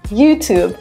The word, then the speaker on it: YouTube: Yeah, we add a Y sound, so it should be YouTube. But when we have the Y sound, or like the T-Y-U sound, we often squish it together and make a ch sound, tube.